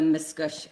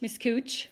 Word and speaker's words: Miscouche: On the Miscouche side. So, Miscouche is spelled m i s c o u c h. Miscouche.